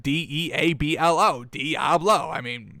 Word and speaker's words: Deablo: I know it's not spelled like Diablo, but Deablo.